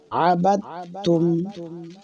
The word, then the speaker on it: عبدتم: এক আলিফ মাদ্দে তবাই আবাদতুম মা আবাদতুম আবাদ অনেকে বাদ বলে বাদল জবর বাদ এরকম না বা তা জবর বাদ বা যাবে এ তার সাথে তার